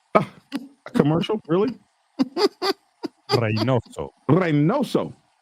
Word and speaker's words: Reynoso: Reynoso. Reynoso. Okay, not Reynos, dumbass. Reynoso. Reynoso, dumbass. You gotta roll the R, man.